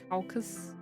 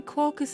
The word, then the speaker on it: caucus: to look up how to pronounce how to pronounce caucus I thought it was I thought it was calcus apparently it's not apparently caucus is a real word no idea I thought